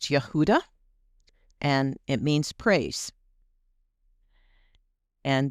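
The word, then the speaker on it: יהודה: Um, in Hebrew it's pronounced Yehuda and it means praise and there is u the Hebrew spelling of Yehuda.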